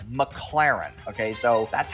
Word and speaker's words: McLaren: because he couldn't pronounce McLaren he says the name wrong like eight times in a row it's not McLaren it's McLaren okay so that's how we know this guy